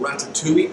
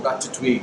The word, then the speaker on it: ratatouille: It's called ratatouille or ratatouille, depending on what part of the world you come from and how you choose to pronounce it.